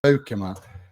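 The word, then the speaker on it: Beukema: to pronounce his name, but Bukema, as you're supposed to pronounce Dutch name, is I think he's a Conte defender, and I think he's going to do really well.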